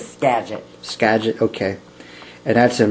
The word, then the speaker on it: Skagit: Is that how you pronounce it? Skagit? Skagit.